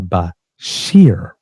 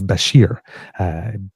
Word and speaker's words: Bashir: named uh now listen be be careful the pronunciation here it's Muhammad Al Bashir because I just got rid of Al Bashar so not the same place so it's Basher B- a s h i r um according